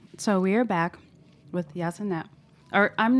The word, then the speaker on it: Ysanet: So we are back with Ysanet. Or I'm not pronouncing that. It's Ysanet.